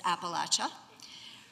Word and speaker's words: Appalachia: Please notice the pronunciation for those of you from the north. It is Appalachia.